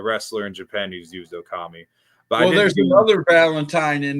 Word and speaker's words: Okami: Okami came up just because my middle name is, and so translated in Japan it'd be Okami, and it rhymes with Tommy.